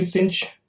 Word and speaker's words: sinh: so this is cinch we also say pronounce it to be cinch X right now we need